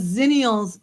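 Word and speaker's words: Xennials: Because Zennials sounds like a Z. So I was thinking, wouldn't it be a crossover of millennials and Gen Z? But now that I see it spelled with an X, and then I know that's what. So see, it's zennials.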